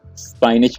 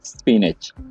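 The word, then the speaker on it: spinach: अक्सर लोग इसको स्पाइनच पढ़ते हैं, तो ये गलत प्रोनाउंसिएशन है। इसे हम पढ़ेंगे स्पिनच।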